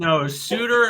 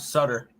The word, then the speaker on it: Suter: Suter and Sider, not Sutter. I'm talking about Pius Sutter. No relation to Dickens Cider. No, that's Pius Suter. He's Suter, not I Sutter.